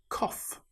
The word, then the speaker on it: cough: Tough. In this example, the gh sounds like the f sound. It's the same with cough.